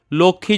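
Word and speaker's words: লক্ষ্মী: কিন্তু সেখানে আমরা সুখ ম উচ্চারণ করি না। আমরা সূক্ষ বলি। লক্ষী যখন বলছি তখন দেখো লক্ষীয়ের নিচে একটা মফলা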